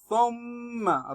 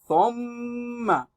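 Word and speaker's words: ثُمَّ: Thumma. Remember how to read your tha'un by placing the tip of your tongue on the back edge of your front teeth. Then tha'un is pronounced correctly. Thumma.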